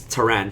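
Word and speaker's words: Pteran: comments guys so it's Tran so it's like uh pterodactyl so of course the p is silent so uh this card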